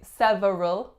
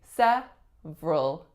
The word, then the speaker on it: several: the word several several this one sounds or looks excuse me that it should be several several and actually a lot of my clients also have trouble with this word but we do not say several we say several several several of my